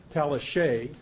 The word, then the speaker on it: Tallichet: And Stuart, I'm going to pronounce it correctly, Tallichet, C-H-E-T, French, is the guy who investigates the open meetings law violations.